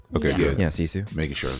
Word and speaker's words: Sisu: Yeah, Sisu.